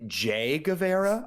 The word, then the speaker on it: Guevara: say and we yes we are saying Jay Gava I want to make that very clear for the listeners at home we're not mispronouncing anything his name is Jay Gava and we'll get into